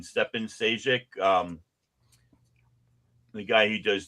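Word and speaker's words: Šejić: Um, and then, uh, I can never pronounce his name. Um, Skevich. Nope. Nope. Stefan, he's a Croatian. Stefan Seek.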